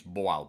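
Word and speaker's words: Bol: the top laner I think B or it's pronounced in Portuguese Bal B O L but we call him Bull like a bull cut and he's probably the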